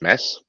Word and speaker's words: Mads: So yeah, my name is Mads with a silent D.